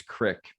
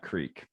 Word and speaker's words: creek: Yeah, I do appreciate too that you pronounce it as crick and not creek.